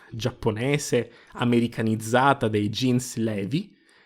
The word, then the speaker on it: Levi: Levi, per qualche oscuro motivo divenuto Reveil nell'adattamento italiano, va pronunciato, appunto, Levi per due motivi. Innanzitutto il nome è scritto in katakana, quindi fa capo a una parola straniera per i giapponesi, e quando si tratta